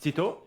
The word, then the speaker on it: Sitaux: No, I think it's actually pronounced Sitaux, like Sitaux? in French. Okay. But it's hard for us. Like, even I'm not a French speaker, so I would pronounce it differently. But you put so much emphasis on the O part.